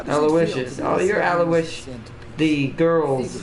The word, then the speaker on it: Aloysius: I am Aloysius, by the way. Aloysius. So you pronounce it Aloysius, or at least that's how the game said it.